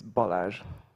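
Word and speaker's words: Balázs: for this It's Tricky can you tell how to pronounce it correctly yeah it's bolage okay perfect um thank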